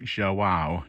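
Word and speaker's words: João: queen's veterinary school hospital i believe that's how you pronounce his name it's portuguese i think zhou wow j-o-a-o and uh he's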